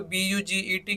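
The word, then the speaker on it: budget: से पहले का दिस आयरलैंड कर देंगे तो बजेट क्या बना बजट बना बजट का मतलब होता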